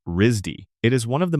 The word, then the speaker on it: RISD: He went to the Rhode Island School of Design, a place known locally as Risdy, which gets pronounced like Risy.